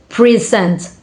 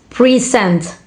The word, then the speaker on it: present: For example, in the word present, present stress on the first uh syllable present. Present make it a noun uh while stress on the second syllable like present make it a verb.